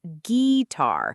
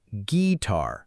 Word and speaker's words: guitar: And guitar is pronounced "gee-tar" with no U sound in the middle.